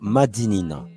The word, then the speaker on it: Madinina: Par l'oral, dans la langue créole, nous avons conservé la bonne prononciation qui est donc Madinina.